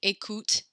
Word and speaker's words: écoute: But when a word ends with an E, you do not pronounce that E sound, like écoute or cherche.